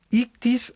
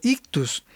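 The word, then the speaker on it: ἰχθύς: identificación eran las que se pronunciarían más o menos como ictis o ictus, que en griego significa pez.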